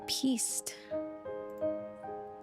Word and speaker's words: piste: Piste.